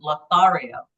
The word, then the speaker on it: lothario: he's been dubbed a jagged edged or crude lothario did I say it correctly lario yes you did okay you're shakes who when